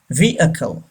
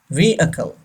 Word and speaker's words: vehicle: sound he react oh he don't pronounce H okay we should not say we Hackl Rico all all they are wrong okay vehicle say this word vehicle number nine joke joke